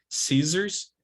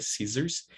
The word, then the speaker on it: scissors: Scissors, double S in the middle, it's pronounced with voicing, right? Scissors.